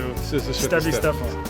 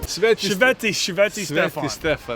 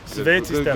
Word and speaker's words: Sveti Stefan: If you wanted to see or be seen, you would go to Stevi Stefan. Sveti Stefan. I keep on saying Stevie Stefan.